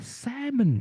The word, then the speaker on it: salmon: Ini mungkin kita sering membaca ini, tapi kita tidak tahu kalau ini L-nya mati, Teman-teman. Salon ya. Salmon everyone.